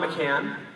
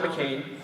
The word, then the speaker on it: McCann: So again, my name is McCann. It's not McCain. And it is not McClane either.